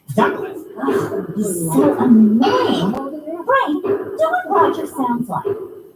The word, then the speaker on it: Douglas: And now Ricky's adult mom's new boyfriend, Douglas, that's how he pronounces it because he says that's the official way. Douglas.